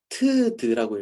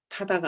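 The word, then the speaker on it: ㅌ.ㄷ: 아, 아까 그 글자는 트드라고 읽습니다. 트드. 타다가 아니고 트드라고 이렇게 읽습니다.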